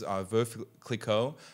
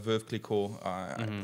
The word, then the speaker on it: Veuve Clicquot: Well, I might be saying it wrong too with an American twist, but it's the widow Clicquot. So it's probably Veuve Clicquot, something like that.